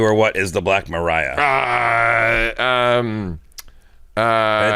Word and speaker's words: Black Maria: what is the Black Mariah uh um uh it's spelled like Maria just so you know the black Maria but it's pronounced Mariah a Mariah the Black